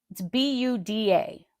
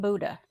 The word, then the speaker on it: Buda: It's Buda, but it's not Buddha.